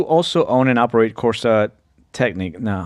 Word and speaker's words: Technic: Uh you also own and operate Corsa Technic. Now, how do you pronounce that correctly?